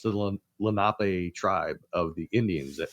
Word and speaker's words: Lenape: actually just recently heard the Philly captain in one of his videos say Lenape. I was like, you said it right.